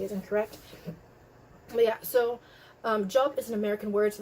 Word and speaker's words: Job: But Job is an American word, so they pronounce it in the American English pronunciation.